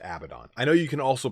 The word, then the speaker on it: Abaddon: the other day that Abaddon is not pronounced Abaddon I know you can also pronounce it a baton but can we all just